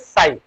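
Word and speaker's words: ψ: Now next term is work function, जिसको हम लोग इस पर्टिकुलर सिंबल से रिप्रेजेंट करते हैं, वर्क फंक्शन, और इट इज प्रोनाउंसिएटेड एज साई, work function और साई of metal, work function और साई ऑफ मेटल।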